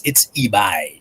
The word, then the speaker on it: Ibai: All right, yeah, it's eBay, like eBay. the place where you get cheap stuff on the internet.